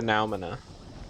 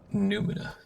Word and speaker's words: noumena: I'm pretty sure it's Numina. Well, I wouldn't, call anybody wrong for pronouncing it noumena. It is pronounced noumena, however, according to me, Hmm. because it's Hmm. spelled with an O and a U.